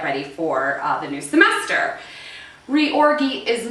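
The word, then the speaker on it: reorgy: little sex obsessed here so the first word is spelled r-e-o-r-g-y and that is pronounced re-orgy now this is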